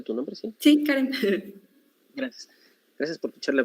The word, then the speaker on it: Karem: ¿Así se pronuncia tu nombre, sí? Sí, Karen.